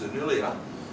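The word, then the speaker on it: Selimiye: She arrived at Senillia, that's S-E-L-I-M-I-Y-E, pronounced Senillia, because I got the pronunciation from Turkish.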